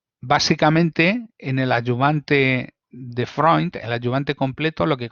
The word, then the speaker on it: Freund: El más famoso es el ayudante que se llama de Freund, que se escribe Freund, pero los alemanes dicen Freund, o sea que hay que decir Freund, y que este hombre